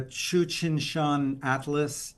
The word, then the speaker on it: Tsuchinshan: I think it's like Tsuchinshan or Shane. Yeah, Tsuchinshan-ATLAS. Yes.